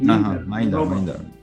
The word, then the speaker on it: Mindar: Do I pronounce the name correctly? Mindar.